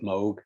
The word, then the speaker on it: Moog: old analog sounds from moog synthesizers or some people pronounce it moog i think is maybe the proper way to pronounce it but um that started